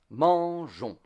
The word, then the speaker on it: mangeons: Let's take a French word, mangeons. As you can see, there are eight letters in mangeons, but there are only four sounds, two consonant sounds and two vowel sounds.